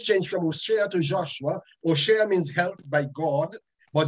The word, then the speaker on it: Hoshea: joshua's first name is osha the the h is silent oh shayne in the hebrew hoshea